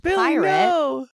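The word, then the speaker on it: PYRT: he's organizing a new Festival called pirate P RT pronounced pirate and this is a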